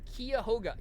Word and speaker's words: Cuyahoga: We pronounce it Cuyahoga.